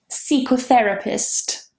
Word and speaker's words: psychotherapist: Psychotherapist. For example, I'm a psychologist, but it's not C, it is psi. That beginning, PSY, is always psi in English. Psychology, psychotherapist, psychotherapy, psychologist, they're all with psi.